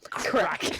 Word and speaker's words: Craic: Crack. just write it and then write X or equals pronounced crack.